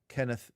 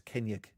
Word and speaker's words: Kennaugh: Remembrance Sunday, and it's there's a surname that's spelled Kennaugh, and you think it might be Kenneth or Kennig. It's not. It's Kenyag. It's like almost like with a Y sound, Kenyag.